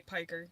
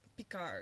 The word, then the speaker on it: Piker: A lot of people say Piker just because we're American, okay? But it's like Pikar or some fancy like that. He's Turkish.